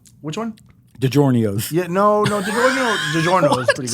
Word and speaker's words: DiGiorno: DiGiorno? Which one? DiGiorno's. Yeah, no, DiGiorno is pretty good. DiGiorno's. Well, that the Italians pronounce it DiGiorno's.